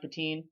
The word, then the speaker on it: Pettine: They go with the Bills defensive coordinator Mike Pettine. Is that how I pronounce it? Pettine.